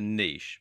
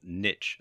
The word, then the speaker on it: niche: you need to do is to choose a niche or niche as some people pronounce it the term niche in this context